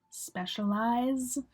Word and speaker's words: specialize: Specialize. You're saying like eyes at the end.